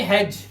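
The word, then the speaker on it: hedge: और यहां पर देखिए जी से पहले डी आया हुआ है पढ़ेंगे हैज सिर्फ हैज डी हमारा साइलेंट है और यहां पे भी हमारा डी साइलेंट होगा और इसे पढ़ते हैं ब्रिज।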